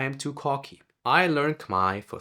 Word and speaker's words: Khmer: I also had to learn that it is pronounced Khmer, not Khmer.